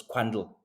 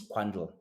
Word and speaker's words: Quandl: I don't know I think you you you pronounce this quandle it's q u a n DL I'm thinking is quandle is sp specific as um as a data